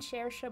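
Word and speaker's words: Saoirse: She and Shersha would sometimes talk about the fairies. Shersha will talk about fairies to anyone who will listen. I know how to pronounce Shersha because of Shersha Ronan.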